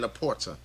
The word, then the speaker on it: LaPorta: I want to say it's Laporta. Like I said, I just want to pronounce the guy's name right, man. But he has those weapons, so I guess so. Yeah, Laporta. That's his name, Laporta.